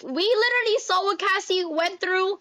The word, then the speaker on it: Cassie: And like people are already on social media talking about Casey. Is it Cassie.